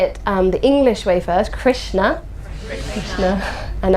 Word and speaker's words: Krishna: So we'll say it the English way first, Krishna, and I'll say the Sanskrit way, Krishna.